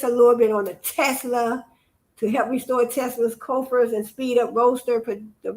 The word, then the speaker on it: Tesla: Telsa, I keep on saying it wrong. Tesla. I don't know why I had Telsa.